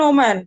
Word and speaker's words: woman: যেমন WOMAN WOMAN এটার উচ্চারণ ওম্যান, কিন্তু যেই মাত্র এটা প্লুরাল হয়ে যাবে সেটা হয়ে যাবে উইমেন।